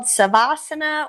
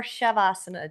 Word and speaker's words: savasana: It's either called savasana or shavasana. Depends on what part of India you're in. I have learned that. They all pronounce it a little bit different depending upon where you're at.